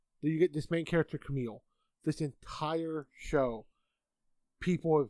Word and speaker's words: Kamille: So, it's Kamille. Hey. Pronounced Camille, spelled Camilla, or Camille.